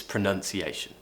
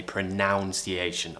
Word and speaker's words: pronunciation: to improve my pronunciation its pronunciation okay pronunciation please don't say pronounce iation I've mentioned this before I will not mention it again its pronunciation